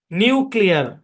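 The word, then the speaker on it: nuclear: ওকে, তারপরে আরেকটা উদাহরণ দিয়ে খেয়াল করেন, এন ইউ সি এল ই এ আর উচ্চারণ কি? নিউক্লিয়ার। হ্যাঁ, এই অংশের উচ্চারণ নিউ, কেন? কারণ ইউর পরে মানে কনসোনেন্ট নাই, ওপেন সিলেবল আছে এখানে ইউ।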